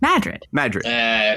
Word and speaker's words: Madrid: Is this the town I pronounce as Madrid? Yes. Yes, but they pronounce it as Madrid. Only if you're from the place.